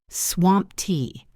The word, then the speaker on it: swamped: It ends with a t sound even though it is spelled with ed. Swamp t. I'm swamped.